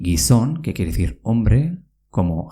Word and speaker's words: gizon: Se dice gizon, con una Z.